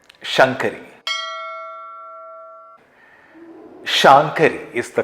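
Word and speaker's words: Śaṅkarī: Shāṅkarī is the correct pronunciation in Lalitha Sahasranamam.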